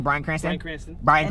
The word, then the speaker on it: Bryan Cranston: So Bryan Cranston. That's how you say his name, Cranston.